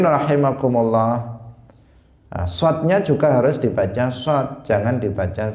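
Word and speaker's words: ص: Hadirin rahimakumullah, shadnya juga harus dibaca shad, jangan dibaca sin. Jangan mengatakan Allahumma salli, salli wa sallim misalnya, tetapi dia harus membacanya sholli pakai shad, karena maknanya juga akan berubah.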